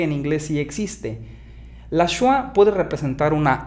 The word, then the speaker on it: schwa: Más bien schwa, no chua.